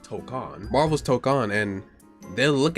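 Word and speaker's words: Tōkon: like you know Marvel token or tokon that's how it's pronounced tokcon Marvel's tokcon and they'll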